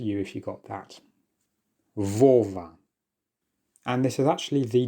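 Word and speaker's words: Вова: This is not a B. This is the Russian letter V. And that therefore means that you should pronounce this word as Vova. Vova.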